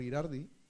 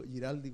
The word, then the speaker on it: Girardi: Los neurodatos, que parte acá en Chile con el senador Girardi, ¿lo pronuncio bien? ¿Sí, siempre me equivoco? Siempre digo Giraldi como el grupo de música antiguo.